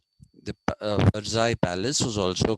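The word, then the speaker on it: Versailles: is pronounced as mayor similarly verai because LL is there in that basti because LL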